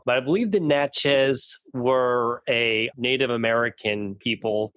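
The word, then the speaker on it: Natchez: Park yeah n yeah how do you pronounce it natches okay that makes sense got get that drawal on it I guess well the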